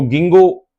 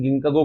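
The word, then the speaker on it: Ginkgo: से हम बोलते आए, तो गिंगो जो हम बोलते हैं। लेकिन मैंने देखा था कई, मैं एनसीईआरटी हिंदी मीडियम वाले स्टूडेंट को पढ़ता रहा था, तो वहां इसका हिंदी में प्रोनाउंसिएशन गिंकागो कर रखा था। तो हो सकता है कि के को साइलेंट नहीं माना गया हो, अब ऐसे भी प्रोनाउंसिएशन चेंज होते रहते हैं।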